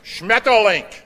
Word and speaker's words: Schmetterling: Right, Schmetterling. Correct pronunciation.